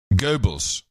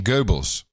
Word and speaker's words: Goebbels: rest I'd like to get a really accurate pronunciation of Gibble's Goebbels yeah I'd like to get a real accurate print that's the accurate pronunciation Goebbels Goebbels Goebbels yes yes nobody knows were you talking